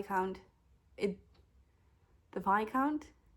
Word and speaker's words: Viscount: V count it the vi count it's pronounced VI count but you read it as Viscount I'm Dutch I'm the